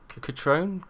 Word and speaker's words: Cutrone: actually say his name it's like Cutrone coach Ron crouton that's the bread